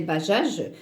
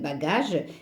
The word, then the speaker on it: bagage: n'a pas de sens bagage la même chose ce e si on le laisse ça va se prononcer bachage donc on doit en vous avez le E ça reste bagage et la guêpe donc